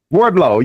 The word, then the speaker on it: Wardlow: in that wardrobe I think I said his name wrong uh Wardlow yeah his name but like like he can't